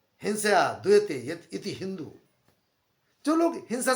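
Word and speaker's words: Indus: क्योंकि इंग्लिश में यहां पर एच साइलेंट है, इसलिए एच साइलेंट होने के कारण हिंदूज पढ़ा। कुछ लोगों ने इंडूज कहा, कुछ लोगों ने इंडस कहा। ये इंडस नहीं, हिंदूज है।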